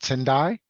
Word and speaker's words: Tendai: I mispronounce your name tendai is that how you say it yes that's correct yes that's correct when